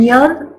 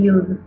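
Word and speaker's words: יוד: Hay quienes pronuncian Yod, hay quienes pronuncian Yud.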